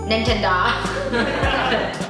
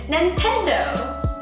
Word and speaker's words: Nintendo: like play whatever game and some people might pronounce it wrong and they might say ninja doc nah it's Nintendo all right so we need big dog internet